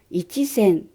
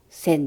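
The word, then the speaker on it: 千: Chữ ichi đầu tiên của hyaku và sen sẽ không được phát âm. Vì vậy, sen cũng không đọc là ichisen. Chỉ đọc là sen thôi.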